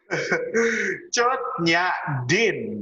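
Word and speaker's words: Cut Nyak Dhien: Ya dibaca biasa, bukan cut ya. Oh, emang dipotong. Apa? Gimana cara bacanya yo? Gimana Za? Bacanya Za? Nyak, cuit, nyak, din. Cut Nyak Din. Nah, biasa aja.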